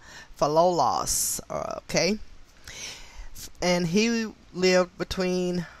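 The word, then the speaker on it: Philolaus: i can pronounce this fellows fellows and it is spelled p h i l o l a u s for loss okay and he lived between 470 bc and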